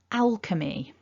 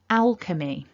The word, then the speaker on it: alchemy: we write it but that ch is actually pronounced k so repeat after me nice and loud alchemy one more time alchemy fantastic so they're just